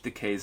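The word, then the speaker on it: Takei: Also, if you like me did not know how to properly pronounce George Decay's name, this book is so helpful because it rhymes with decay because he's gay.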